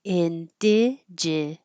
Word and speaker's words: indigenous: And I really didn't realize that every vowel is the same vowel until I spelled it that way, indigenous.